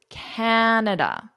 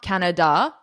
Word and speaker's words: Canada: So it's Canada. It's not Canada. Canada. Sometimes I hear that where the da is really strong. Canada. No. Canada. Okay? That's how you say it, like an American, like a Canadian. Canada. So this da is quite short.